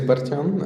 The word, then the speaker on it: Bartan: Uh, Bartan, do you want to introduce yourself? Perfect. So, my name is Bartan. Um, Americans usually say Bart because it's a bit easier to pronounce.